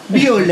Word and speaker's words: Bewley: how do you say it how Charlie Bewley buell and you know from where from me please